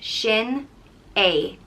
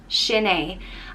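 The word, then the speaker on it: Sin é: and it means that is it and it's pronounced shin a shinee and people would say it like if you're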